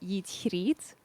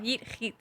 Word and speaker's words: YeetGriet: So my username is Dutch, and it's pronounced YeetGriet. So not with a hard G. It's like a Giet? cat hissing. Giet. It's like cat Yeah. hissing. Oh, YeetGriet.